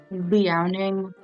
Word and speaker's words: Liaoning: the mid to late Jurassic like paleoecology of Liaoning province in China. Hell yeah. Which is how you say it. I searched it up. It's Liaoning, Liaoning province.